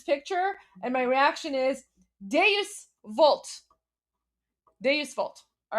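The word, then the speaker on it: Deus Vult: Is it douchevolt? Duce vault. Is that Is that how you pronounce it? Oh my gosh, I'm totally embarrassing myself right now. Is that how it's pronounced? I don't know. I've never actually like I've read it, but I know it's Latin, so I I don't know if I'm pronouncing it. Oh, deis. There we go.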